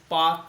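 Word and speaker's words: Palk: P-A-L-K, Park, not P-A-K, Park. Okay, L is silent there.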